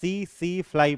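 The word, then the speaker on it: tsetse fly: T silent है, मक्खी का नाम है। ठीक है, टी साइलेंट, इसको क्या पढ़ते हैं? सी फ्लाई पढ़ते हैं।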